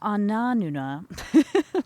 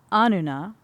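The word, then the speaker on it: Anunna: The Ananuna, that's not how it's pronounced, the Anuna, the judges of the underworld, surrounded her, and they passed judgment upon her.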